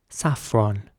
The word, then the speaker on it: saffron: The next word is spelled Saffron, and in British English it would be saffron. Saffron.